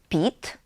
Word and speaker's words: PIT: We also read it as a word, not as letters—not PIT, but PIT.